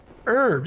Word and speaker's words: herb: Herbs, yeah, herbs. That's what I said. There we go. There we go. Herb, like the secret KFC recipe? Yes. No H herb? Well, the H is silent in herbs.